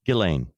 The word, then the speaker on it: Ghislaine: Oh, yeah, that was butchered so many times until we finally got to Ghislaine.